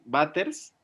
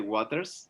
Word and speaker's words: Waters: Entonces, Batters, en realidad no se dice Waters, se dice Batters.